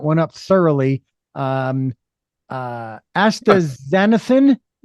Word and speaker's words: astaxanthin: um as Okay, I'm going to have you pronounce that cuz I know I'm going to mess that one up thoroughly. Um uh astaxanthin Yes, you got it perfectly.